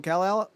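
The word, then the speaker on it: Kell-El: clone is spelled k-e-l-l-a kell like keenan and kill i here it goes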